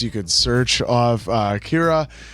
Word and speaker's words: Kira: could search off uh Kira which now has a whole new meaning cuz it's the pronunciation of the English word killer so now we have